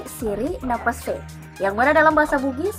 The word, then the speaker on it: siri napace: Nah, namun sebelum kita bahas arti dari siri napace ini, perlu kita ketahui bagaimana sih cara membacanya. Saya pun baru tahu beberapa waktu lalu ternyata cara bacanya itu bukan siri napace, tetapi siri napase.